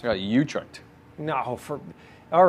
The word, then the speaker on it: Utrecht: Is that how you pronounce it? It's Utrecht. It's got Utrecht.